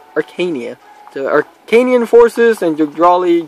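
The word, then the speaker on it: Archanea: Previous two maps, we got people here from the Jugdrali forces, along with some Archanian, yeah, apparently it's pronounced Arcania.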